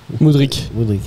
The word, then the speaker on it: Mudryk: Toi, spécialiste ukraine, on prononce Mudryk ou Mudryk? Mudryk, ok. Ouais, sinon ça serait un C.